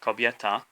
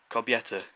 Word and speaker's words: kobieta: For example, the word for woman, kobieta, so the last letter is a. Bad English pronunciation, would be kobieta, which it sounds really English, kobieta. So you're not really saying a anymore. You're not saying the a sound.